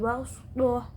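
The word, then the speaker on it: بسطة: Dalam lafadznya dituliskan wazadakum fil khalqi bastuh, tetapi bacanya wazadakum fil khalqi bastuh. Shot dibaca sin.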